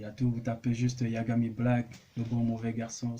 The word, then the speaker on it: Yagami: J'ai bien prononcé, non, c'est Yagami, hein.